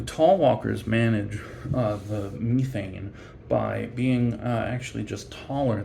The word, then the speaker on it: methane: emerges from the ground which is methane not not methane or methane but methane it is the myths and